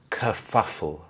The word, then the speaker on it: kerfuffle: We have the sound here, the schwa sound, kerfuffle, kerfuffle.